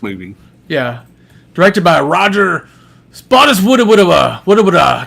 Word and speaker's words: Spottiswoode: Roger Spottiswoode I'm gonna I'll tell you how to pronounce it all right hi Roger Spottiswoode spot uh just spot it's moving whoo so Roger went